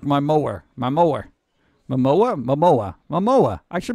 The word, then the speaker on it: Momoa: it like this because it's how it really pronounced mom oh wow my mo up like my mower my mower Momoa Momoa my MOA I should be able to